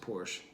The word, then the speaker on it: Portia: A track like Portia, which I think she pronounced Porsche, her voice actually comes out.